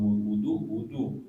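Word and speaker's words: وُضُوء: Kalau wudu beda. Wudu itu kata dasar, perbuatan wudu namanya wudu. Wudu pakai dhammah, wudu gitu kan, wudu.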